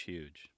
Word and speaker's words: huge: size of that beast huge almost with a silent age huge i hope i hope